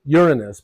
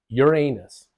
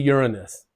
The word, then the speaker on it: Uranus: Now, the emphasis is on the first syllable, Uranus, but some people prefer the emphasis on the second syllable, Uranus. Anyway, it should be Uranus. Now, not only did these